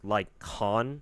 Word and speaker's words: Lycaon: I think his name is actually pronounced Lycaon, but I don't care. Lycaon sounds cooler to me.